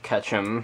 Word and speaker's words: Ketchum: Ash Ketchum. Rhymes with ketchup, but not really, but make sure you think of ketchup.